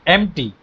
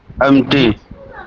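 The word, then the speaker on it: empty: prayer is नॉट एन एमटी ये P silent है एम्प्टी रिटोल नहीं नहीं ये जो है ना पी साइलेंट है ये वे ऑफ लाइफ जी दुआ एम एम्प्टी हां एम्प्टी है यह और एम्प्टी मतलब खाली और पी साइलेंट है पी नहीं पढ़ा जाएगा और यह है रिचुअल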